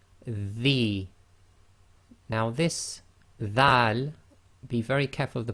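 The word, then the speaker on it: ذال: Now this Dhal, be very careful of the pronunciation, should be the, as in the English word the, as the old English word the.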